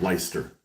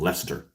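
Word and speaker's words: Leicester: I just I hate the way I hate the way you guys pronounce that city, which should be called Lyster instead of Lester.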